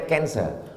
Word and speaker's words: cancer: darah menggumpal-menggumpal menjadi Cancer tulisannya c a n c e r orang barat membacanya kanser orang kita susah menyebut kanser kenapa nih kanker maka menggumpal dia dalam